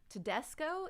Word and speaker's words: Tedesco: ben and ben i should have asked you tedesco is that how you say it your last